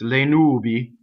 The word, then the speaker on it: le nubi: Going on, le is a weak monosyllable. It does not double the N. So it's le nubi, right?